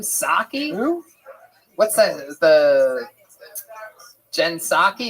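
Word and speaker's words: Psaki: Jen Pasaki. What's that chick's name? Saki. What's that? The Jen Saki. Is that how you say it? You don't say the P at all.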